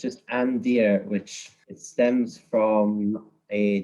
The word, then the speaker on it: Andeer: misheard my name so instead of Andrew he thought it was and so it's just a and then spelled like you would see in the forest okay and then Stephanie